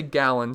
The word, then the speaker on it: Gallo: have daniel murphy going i'm gonna say gallon so you guys can cringe every single time i say it if i'm mispronouncing his name i guess i can just look it up really quick okay i checked it is gallon so we're good to